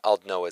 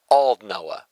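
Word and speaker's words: Aldnoah.Zero: Max Middleman, he told me, he's like, you want to think of it as bald and just chop the B part off. So it's Aldnoah 0. That's how I remember how to say it correctly.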